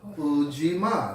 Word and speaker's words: Ujima: barri Gandhi family Fujima that's how you pronounce the principle for today Jumma yeah and